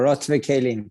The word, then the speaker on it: Orot Vekelim: And, you know, I definitely want to make sure I pronounce the name correctly. Orot Vekelim is the name of the band. Orot Vekelim.